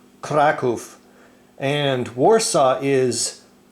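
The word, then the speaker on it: Kraków: as well as I found out that um crack off in Polish is well like I said hopefully pronounced Krakow and Warsaw is varshava man I'm loving this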